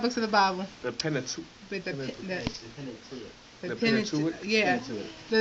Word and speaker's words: Pentateuch: The Pentateuch. How do you say it, the first 5 books of the Bible? The Pentateuch.